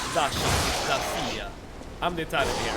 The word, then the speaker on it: Dacia: I don't pronounce the I. That's an exception. So Dasha. Dasha.